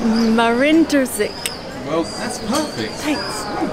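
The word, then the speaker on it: Marin Držić: Hey, can I pronounce his name? Marin Drzic.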